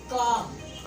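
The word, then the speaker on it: calm: अब कैसे फिक्र हो रही है देखें, जब ए और एम के दरमियान में एल आता है तो एल साइलेंट हो जाता है। काम पाम।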